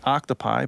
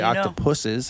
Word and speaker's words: octopuses: read a book on on octopuses, which is the proper plural pronunciation. That's like on the first page of the book. A lot of people think it's octtopi, but Yeah, I did. the more you know it is actually octopuses.